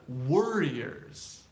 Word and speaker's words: warrior: and stuff, we had warriors or warriors. If you pronounce it really clearly, you'll hear that difference as warrior.